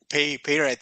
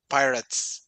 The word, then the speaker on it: pirate: for example pirate but I think that I pronounce wrongly firstly I said like pay parrot something like that but now I check it here in in on Google and it's like a pirates pirate.